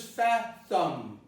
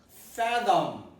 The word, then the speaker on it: fathom: word is fathom fathom many of my students would not be able to produce fat which is a prolong sound attend some of the vowel a fat thumb and then they would pronounce this fat thumb so this work contains an O do here is pronounced as a neutral vowel so it is pronounced fathom fathom ok fathom now the